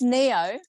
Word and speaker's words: Neo: It's Neo. That's my Vietnamese name. Not it's a Vietnamese name. Neo. But it's pronounced Neo.